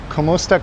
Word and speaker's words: kamusta: Kamusta cana. Well, you spell that wrong. It's ku m u s t a kamusta. And then you don't say ka, you say kamusta.